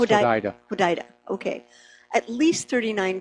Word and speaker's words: Hodeidah: It's pronounced Hodeidah.